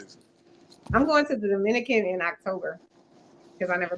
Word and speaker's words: Dominica: I'm going to the Dominican Republic. Because there's 2 places. There's Dominica also. Right. That's not pronounced that way, ma'am.